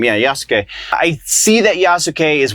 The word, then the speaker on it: Yasuke: yes I see that yasak yasuke I think is how you say his name yeah yasuke I see that yasuke